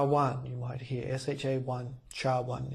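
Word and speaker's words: SHA-1: you might hear sha1 Char 1 is how it's pronounced and that is 160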